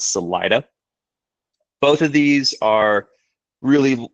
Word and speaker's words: Salida: We also mispronounced the other town here. Instead of Celita, it's Salida.